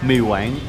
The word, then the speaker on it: Mì Quảng: Mì Quảng.